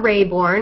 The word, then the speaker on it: Raybourn: um called Silent In The Grave by Dianna Rayborn is that how you say it Kyla yes